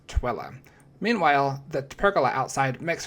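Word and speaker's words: Tooele: And I may have pronounced Tilla wrong 17 times, but the locals were still polite. And don't worry, I got corrected a few days later when I visited some of my friends from Broken Arrow when they explained the correct way to pronounce Twilla.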